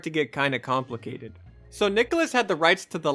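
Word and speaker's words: Nicalis: how the publisher Nicholas, and yes it is pronounced Nicholas, I did look it up, had picked up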